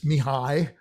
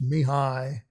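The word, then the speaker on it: Mihály: um english version is michael in hungarian it's mihai so the ly again is like could i it's me hi and uh last name is domiyan all right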